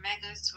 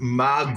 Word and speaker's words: magus: Mus or megas? Whatever you It's pronounced magus.